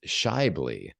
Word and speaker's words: Schaeuble: So the correct pronunciation of my last name is Scheibele.